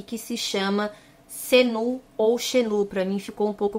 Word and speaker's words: Xenu: Para mim ficou um pouco complicado, porque ele é escrito Xenu, mas as pessoas chamam de Senu, outras chamam de Xenu. Então eu vou chamar ele de Xenu, porque é como se escreve, mas se estiver errado, deixa aqui para mim no comentário.